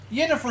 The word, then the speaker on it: Yennefer: The J is pronounced Y. Probably just depends on uh what what country you're from, what culture you have. Yennefer is okay, but Jennifer would be the normal way I would say it too in real in real life.